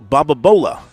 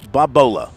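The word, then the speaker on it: Babalola: name, Alu Wasamaloni, Olu Bababola. Wow, good for you. Alu Babola. I put in an extra syllable. Alu Babola.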